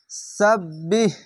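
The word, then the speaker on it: وَسَبِّحْ: কাসিরাউ ওয়া সাব্বিহ সাব্বিহ এখানে একটি বা আছে, সিন বাজবা সাব বা হাজের বিহ সাব্বিহ বিল আসি বিল আসি, এর উপরে সাকিন আছে তার জন্য দুবার উচ্চারণ হচ্ছে।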